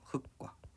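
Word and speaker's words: 흙과: 그래서 얘는 흑과로 읽는 게 정상적인 이야기라는 거죠.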